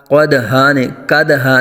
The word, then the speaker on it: قدحا: خوب ظاہر ہوگا۔ قدحا، قدحا نہیں کریں گے بلکہ قاف کو پر آ جائے گا، دال ساکن میں قلقلہ کریں گے اور دو زبر کو الف سے بدل دیں گے۔ قدحا فالموریات قدحا فالمغیرات